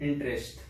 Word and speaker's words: interest: अगर er के just बाद वावल साउंड है then again you have to pronounce raw sound, like इंटरेस्ट.